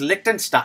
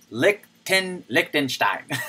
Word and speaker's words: Liechtenstein: There's no K. Liechtenstein.